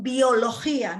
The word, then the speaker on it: biología: This is pronounced biología, not biología, geografía, química, historia.